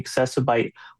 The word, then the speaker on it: Accessibyte: The best place to go is the accessib website and that is spelled A C C E S I B Y T E. So it's like accessible but computer bite or Facebook, Instagram, all those good places.